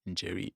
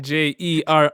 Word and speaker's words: Njeri: Njeri in all caps. Njeri. That's Jerry, Njeri on all social media yeah.